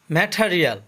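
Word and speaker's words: material: ম্যাটেরিয়াল অর্থ উপাদান, এখানে টি এর উচ্চারণ ঠ হবে আর আর এর উচ্চারণ হবে, কারণ আর এর পরে ভায়োল আছে।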